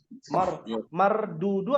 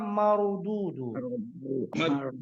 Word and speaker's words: مردودون: Mardudu apa marududu? Mardudu. Roknya dibacanya gimana? Mardudu. Tebal apa tipis? Tebal. Tebal ya. La marududu bukan mardudu.